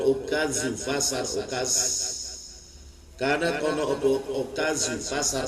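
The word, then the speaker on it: عكاظ: Karena kono okazu pasar okas, namanya pasar okas tulisannya tapi bacanya okaz. Itu seakan-akan itu boleh dikatakan satu-satunya dha yang dibaca za, okaz.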